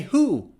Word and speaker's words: who: this word who there is no w you just say who who or to it's not to